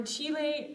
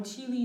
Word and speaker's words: Chile: And for Chile, or Chile, depending on how you say it, English or Spanish pronunciation, same thing, right?